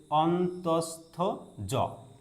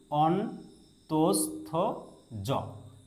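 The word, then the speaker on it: অন্তঃস্থ য: এটার উচ্চারণ হচ্ছে অন্তস্থ জ। দেখুন ভালো করে উচ্চারণটা এখানে। অন্তস্থ জ অন্তস্থ জ ওকে এরপরে যে বর্ণটি আছে সেটা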